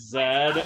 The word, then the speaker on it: Z: Is it weird that I say it as Zed? And the reason I bring... It's not weird that I say it like as Zed, because I'm from Canada, and that's just how we...